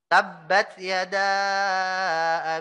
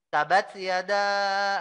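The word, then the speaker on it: تبت يدا: enggak ada misal Eh ada orang baca ini ya tabbat Yada bila Habib Muhammad Abduh tapi orang bacanya bukan tabbat Yada tapi malah tabat Yada Abi lahabiw watab atom tadi baca surat apa anda baca surat tabbat Yada tabatyada mana ada tabatyada yang ada tabbat Yada ya Mbaknya bertasydid ya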